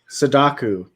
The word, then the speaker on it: Sadako: And however you say her name at the bottom, I want you to try to pronounce it. Sadaku.